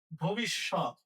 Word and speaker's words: ভবিষ্যৎ: ভবিষ্যৎ। ভয়ের সাথে অ আছে, অয়ের উচ্চারণ ওয়ের মতো হবে কারণ এখানে ই আছে তাই।